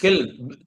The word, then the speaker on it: kiln: किल, KILN होगा, किल, ईंट का जो भट्टा होता है ना, जहाँ ईंटें बनती हैं, Yes. प्रोनाउंसिएशन है ब्रिक किल, किल किल।